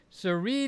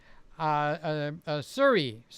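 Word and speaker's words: Sirui: So Sammy's got a new Siri lens. Suri lens is the right way to pronounce it.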